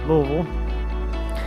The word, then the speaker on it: Louisville: lovely rural Kentucky here pronounced the thousand different ways Louisville Louisville Louisville Louisville people that live here we mostly just say Louisville it's a nice day